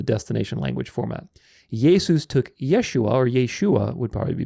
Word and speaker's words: Yeshua: it's Joshua God Saves Yeshua Yeshua actually would probably be a closer pronunciation to it and we talk about